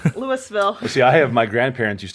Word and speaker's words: Louisville: I have an aunt that lives in Louisville.